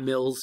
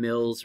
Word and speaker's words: Mill: And by the way, it's Mill, not Mills, K. Please don't call him Mills, right?